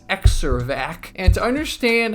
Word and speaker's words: Xervac: So this machine is called the Xervac. Xervac. It's almost spelled like Xerox, but it's not pronounced like Xervac. It's Xervac.